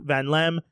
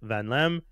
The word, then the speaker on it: Vanllem: I talked to an artist this week, Vanllem, about AI, its use in art, and why it might just never work in the artist industry.